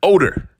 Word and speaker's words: Odor: ragnard odor it's spelled o d o r odor but it's pronounced odor but uh either way you know